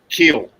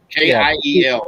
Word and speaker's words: Kiel: That was Richard Keel. Keel. Kiel. Yeah. Yes, I think it's pronounced Keel. I think, but yeah.